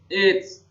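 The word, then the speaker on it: AIDS: dan tidak bisa disembuhkan ini namanya it's tulisannya aib membacanya it's singkatan dari acquired immuno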